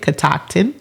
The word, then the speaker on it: Catoctin: Her name is Becky Harris, and she is the co-founder of Catoctin, that is how you say it, Catoctin Creek Distilling.